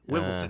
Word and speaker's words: Wimbledon: It's a D, not a T. Wimbledon. Everybody's it is a D. Yeah. Wimbledon.